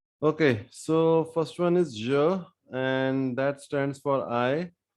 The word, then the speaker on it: je: so first one is joe and that stands for i if you can't speak ja you can speak the words pleasure measure and then extract zero from it so repeat after me